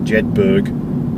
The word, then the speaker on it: Jedburgh: So I'm going off towards Jedburgh. Or Jedburgh, if you're not familiar with colloquial pronunciations.